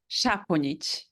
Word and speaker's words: Saponjic: Can you pronounce it for me, Danijela? Yes, Saponjic.